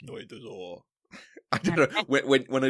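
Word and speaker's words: Ночной Дозор: Nochnoy Dozor. All right. Nochnoy Dozor.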